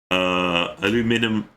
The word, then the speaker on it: Aluminium: Aluminium is the correct pronunciation for the word, and you people are saying it wrong.